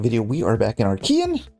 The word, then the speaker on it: Archean: we are back in our Kean and that is how you say it I looked it up and that's what Google told me so we can say it the correct way right off the bat